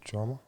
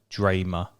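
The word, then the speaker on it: Drameh: Drama? Yeah, but it's pronounced like Dramer.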